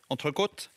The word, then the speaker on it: entrecôte: Jon, hør nå. Ja. S, bearnés. Pommes frites, T, entrecôte, T. Det sånn det skal uttales.